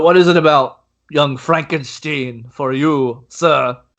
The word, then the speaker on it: Frankenstein: composers with you is Young Frankenstein, which that's pronounced Frankenstein.